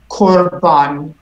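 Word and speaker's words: קָרְבָּן: one right and here let me try and explain why it's O instead of uh Corban Corban so there are a couple of things going on one is it's closed it's a closed syllable and typically we don't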